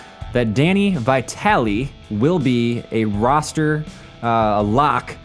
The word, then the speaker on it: Vitale: Danny of Italian now I'm pretty sure I'm pronouncing his last name right I think you pronounce the e in his name but after one week